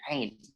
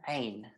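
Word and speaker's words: عين: So phonetically in English, you'd write it as AIYN, but it has sort of a funny little sound in the middle of it, it's like a discorded sound. So it's ain.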